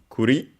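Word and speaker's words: 栗: First we have uh it's a compound from kuri uh accented on the last syllable on its own which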